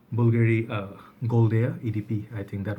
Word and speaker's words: Bvlgari: Some people say Bulgari, there's some people say Bulgari, some people say Bvlgari. So I think it's Bvlgari.